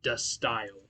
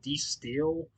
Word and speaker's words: De Stijl: to look it up and they all said dust style is how you is the pronunciation of this album i think i used to call it d steel but i had no idea how to actually